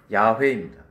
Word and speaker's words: 야훼: 그래서 원래는 원어의 발음은 제일 근접한 것은 야훼입니다.